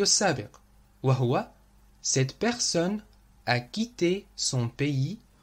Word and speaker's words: quitté: ولاحظوا أن صيغة الماضي والمصدر يلفظان بنفس الطريقة quitter quitté. وهذه ميزة أفعال المجموعة الأولى في الماضي. والسبب هو أن نهاية أفعال المجموعة الأولى ER تلفظ E تماما مثل الحرف E accent aigu.